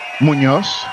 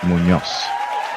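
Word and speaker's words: Muñoz: Munoz. Munoz. It's like moon and then Y-O-S. Munoz. And the emphasis is at the end.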